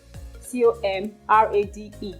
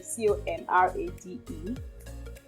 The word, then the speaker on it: comrade: The first word is C-O-M-R-A-D-E. C-O-M-R-A-D-E. British pronunciation is comrade, and the American pronunciation is comrade.